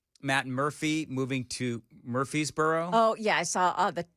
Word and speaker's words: Murfreesboro: They don't say the R in Murfreesboro. No, they don't. They say Murfreesboro. Murfreesboro. That's it.